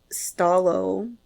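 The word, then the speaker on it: Stó:lō: letter before it so stalo without the colon would be stal but with the colon it elongates the o sound before it so stal thank you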